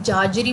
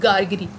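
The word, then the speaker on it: Gargery: अब यहाँ पर ना लोग इसकी प्रोनाउंसिएशन काफ़ी डिफरेंट करते हैं, कोई जार्जरी बोलता है, कोई गार्जरी बोलता है, बट the correct pronunciation of this word is गार्गरी।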